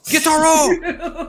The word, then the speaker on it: Gyutaro: pronounce this name with your Japanese. You have to say it like that. Guitaro.